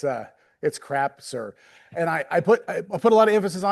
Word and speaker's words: Crapser: So just to, when we get started here, it's Krapser. It's okay to say it like that. Everybody wants to make it sound better than it is and dress it up a little bit, but it's Krapser.